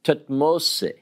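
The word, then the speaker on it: Thutmose: So, for instance, if I want to tell you about an Egyptian named Tutmose, have you ever heard of Tutmose? It's actually pronounced Tutmose.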